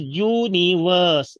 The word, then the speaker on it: universe: okay number three is Universe verse not worse because uh R is not pronunciate universe is tricyllabic I mean three syllables are here first is you